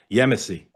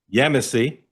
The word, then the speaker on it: Yemisi: Yemeny. Perfect. Yemeny.